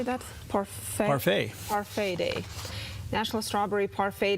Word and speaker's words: parfait: Parfait.